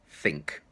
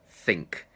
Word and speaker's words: think: I say the word think which where my plan is think it comes out between my teeth and then as I say the word I pull it back in think it's the same with